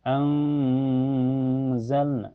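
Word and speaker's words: أنزلنا: Cara bacanya nun sukunya disamarkan ke zai dan ditahan sampai terasa ke hidung. Anzalna, jadi hukumnya ifa hakiki.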